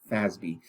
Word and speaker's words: FASB: financial accounting standards board which we pronounce fasbi i told you guys